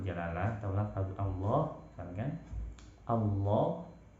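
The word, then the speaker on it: الله: atau lafaz Allah, misalkan Allah, maka bacanya tafkhim, tebal. Bacanya kita usahakan rahang di dalam mulut itu penuh dengan suara Allah, tebalnya seperti kita melafalkan huruf qaf, kha, ghain, seperti itu.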